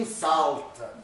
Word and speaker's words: инсульт: Нельзя эту букву читать как «у». Она как «а» читается между согласными. Но однажды кто-то неправильно, и с тех пор, то есть слово «диагноз инсульт» – это на самом деле «инсалт», а не «инсульт». Ну ладно, уже так исторически сложилось, пусть будет «инсульт».